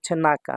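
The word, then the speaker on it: 中: যখন সিঙ্গেল থাকবে single single থাকলে শুধু নাকা উচ্চারণ হবে নাকা অর্থ ভিতরে আর যখন অন্য কাঞজির সাথে মিল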